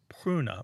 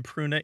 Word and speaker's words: pruna: what a road but and that word was pruna martha how's my pronunciation on latin p-r-u-n-a kruna ultimately ended up